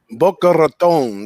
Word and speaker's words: Boca Raton: i i really like the ucf going into bachelor tone ain't that how you say it big ragu boca raton right there in the in the rat's mouth